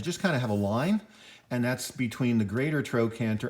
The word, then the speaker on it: linea aspera: There's going to be the only line that is actually pronounced line, but it's pronounced in Latin, which is linea, and it's called the linea aspera.